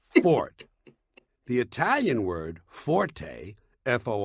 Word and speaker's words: forte: It's pronounced fort. The Italian word forte fo r t used in music notation is pronounced forte and it instructs the musician to play loud.